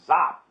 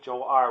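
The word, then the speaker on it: хор: like to look at art x is for zop or choir pronounced huh I should mess that one up didn't I it says xop I said zop and it says pronounced hor which I would say is for children sometimes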